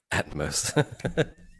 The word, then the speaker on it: Atmos: It's actually pronounced Atmos.